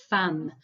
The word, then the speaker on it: femme: it might mean wife we actually pronounce it like fam um can't explain why